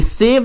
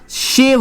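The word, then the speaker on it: shave: नो नो नो, आई एम not talking about that one, आई am saying I शेव today, तो इसका सही होगा आई ये सेव नहीं होगा, शेव होगा।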